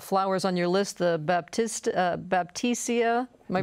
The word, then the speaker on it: Baptisia: refer to by the botanical name, which is Baptisia.